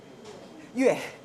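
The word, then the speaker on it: 越: 비에트 이렇게 부르지만 그것의 원래 글자가 뭐예요? 월. 응? 우리가 그 초월한다, 뛰어넘는다라고 하는 월자. 응? 그 월자를 우리는 월이라고 읽죠. 중국 뭐라고 읽어요? 유에. 예, 유에라고 읽죠. 월남에서는 비에트라고 읽는 거죠. 같은 글자예요. 같은 글자를 그렇게 서로 다른 음으로 읽는 거죠.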